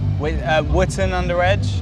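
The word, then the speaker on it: Wotton-under-Edge: You met it at school in, how do you pronounce this, the town? Wootton under Edge.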